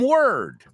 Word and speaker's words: word: Cord is different from word. Claro. Cord, word. Oh, my Lord. And Lord is different. Well, Lord rhymes with cord, but not with word.